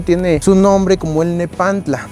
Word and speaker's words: nepantla: su nombre como el nepantla. Este nombre está pronunciado en la variante nawat t y l. Muy bien. En la variante nawat que nosotros utilizamos es con una variante con pura T.